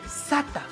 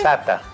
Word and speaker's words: sata: ir pronunciando muy bien septiembre Sata sencillo como se escribe se lo pronuncia adelante Sata Sata Sata una vez